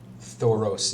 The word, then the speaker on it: Thoros: you spell that sorry thoros is just is t-h-o-r-o-s thank you just tour with those at the end he has his hammer